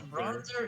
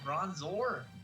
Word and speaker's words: Bronzor: such a hater because bronzer is incorrect you sound really angry is everything okay this seems like a very like legitimate concern you have yes because like it's so easy to pronounce it correctly it's just bronzor i'm